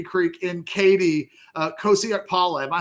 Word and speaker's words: Kosi Okpala: linebacker out of M Creek in Katy uh Kosak Paula. Am I saying that right, Jason? Yeah, you're exactly the way it's spelled.